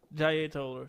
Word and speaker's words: Jaye Toller: He said the R. R. He pronounced the R.